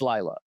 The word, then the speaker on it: Leila: It's not Leela. It's Laya. Uh it's not Ila.